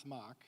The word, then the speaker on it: Smock: I'm Smoke, more properly pronounced Smock, but I like Smoke too.